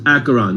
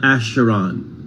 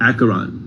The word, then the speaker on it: Acheron: how you pronounce acheron as if it were a k so the ch is hard like school so it's acheron not asheron acheron marsha a bite of